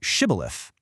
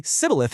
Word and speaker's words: Shibboleth: They make anyone trying to cross say the word shibilith, but because of their regional accent, the Aphroites couldn't make that shh sound. They'd say sibilith instead.